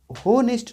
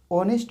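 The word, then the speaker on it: honest: इसको होनेस्ट नहीं बोलते हैं, एच ओ से हो तो होनेस्ट नहीं बोलेंगे। ऑनेस्ट में एच हमेशा साइलेंट होता है। इसको प्रोनाउंसिएशन जो होता है ऑनेस्ट से होता है, ठीक है, एच साइलेंट हो जाता है।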